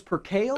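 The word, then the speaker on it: percale: I I think we looked it up and I thought it was per kale.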